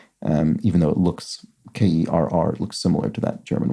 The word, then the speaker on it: Kerr: throughout the puzzle so Steve Kerr is pronounced like her in the U.S not like hair in Germany um even though it looks k-e-r-r looks similar to that